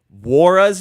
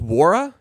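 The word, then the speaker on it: Jordan Walsh: to go Janan says the N is silent in Jordan War's name is that true just wara thank you I have no idea no I would saying noira so it's just War that's is that true but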